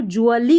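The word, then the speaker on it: gradually: दम्स algorithms में अब इसको ग्रेडुअली पढ़ेंगे ग्रेडुअली नहीं डी यू A double L वाई ये हमारा पैटर्न है तो इसको ज्वली करके पढ़ा जाता है।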